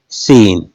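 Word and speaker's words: scene: बोलते हैं इसमें देखिएगा सी ई बोलते क्या है सीन ई से पहले सी सी क्या है साइलेंट सीन बोलते हैं इसमें देखिएगा फेसिनेट तो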